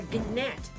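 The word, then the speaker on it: gnat: me you are a gat it's a g silent it's not are you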